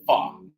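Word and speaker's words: pho: mindset of this folk it's really called fa p h o but it pronounce it far but anyway I'm here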